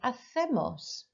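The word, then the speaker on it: hacemos: circled as well again i mispronounced the word here athemos remember your c sounds like a a th los so um i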